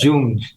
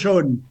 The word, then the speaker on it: Young: Y normalmente decimos Jung. algunos dicen Yang, pero ya son muy pocos, eso los más tradicionales. Yo tenía empleados que decían John.